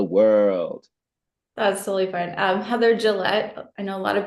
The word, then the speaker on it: Gillett: Heather Gillett. I know a lot of people pronounce it wrong, so it's Gillette.